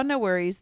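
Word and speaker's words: NxWorries: So, anyways, we saw No Worries. They are a like hip-hop R&B duo. It's Anderson Pack and Knowledge, the producer. Um, and it's spelled NX Worries, like all one word.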